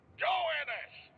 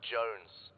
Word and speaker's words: Jones: Joannis. Joannis, where the hell are you? Sir, for the millionth time, my name is pronounced Jones.